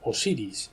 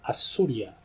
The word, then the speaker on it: Osiris: Antiguo nombre de Osiris no lo pronunciaban Osiris sino que le llamaban assuria el sol Los hindús